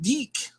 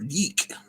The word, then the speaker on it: DIC: from that DIC Studio which I think is pronounced de and uh that's stuff